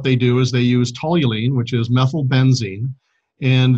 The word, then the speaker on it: toluene: Then they flush that into a vat, and then they boil off the toluene, and the end product of that is C60 crystals, but they're about 0.5% toluene still.